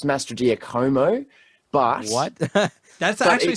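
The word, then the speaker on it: Mastrogiacomo: now I believe it's Master diomo but what that's actually sounds good but it because it's like Italian I think it could actually be Master jakamo yeah it it is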